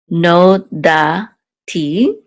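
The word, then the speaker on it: נודעתי: okay it says lo no da TI lahem so um actually the accent is on da so it's no dati so alone I did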